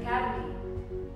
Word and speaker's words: academy: And where you go to study is an academy. Academic, academy. Some of these words, when you pronounce them again and again, you get the